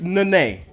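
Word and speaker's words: Nenê: It's Nene. Always have been, always will. Giannis Antetokounmpo. Listen, I've heard this name pronounced 1,000 different ways in this past couple years.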